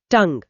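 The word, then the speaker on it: tongue: 177 टंग जीभ टंग टी ओ एन जी यू ई इसमें अंत में साइलेंट यू ई है।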